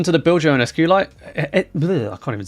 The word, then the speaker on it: SQLite: the build your own SQ light I can't even say it uh oh it is SQ light is it is it SQ light or SQL no it's SQ light isn't it not SQL light have I been saying